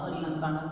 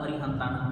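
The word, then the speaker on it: अरिहंताणं: एक सूत्र है वादव ये सूत्र कहता है कि अगर शुरू में ना हो तो उसको न भी लिखा जा सकता है और न भी लिखा जा सकता है दोनों में से कोई भी गलत नहीं है इसलिए आप इसको नमो अरिहंतानम भी बोल सकते हैं नमो अरिहंतानम भी बोल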